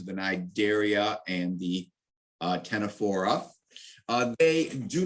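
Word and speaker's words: Ctenophora: down or mangrove jellies the tenefora with the sea again silent c uh are the uh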